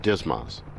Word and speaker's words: DSMS: digital stores management system or dsms often pronounced dismos we'll conduct this lesson